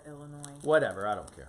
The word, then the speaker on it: Illinois: You don't pronounce the S at the end of Illinois. Whatever. I don't care. Illinois?